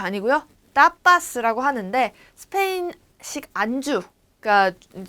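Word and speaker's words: tapas: 따파스라고 하는데 스페인식 안주 그러니까 그 술을 시켰을 때 나오는 주전부리들을 얘기하는 걸 타파스라고 해요. 일종의 뭐 안주라고 얘기를 하는데 요거 타파스 아니고 따파스 된 소리로 발음을 해주시면 됩니다.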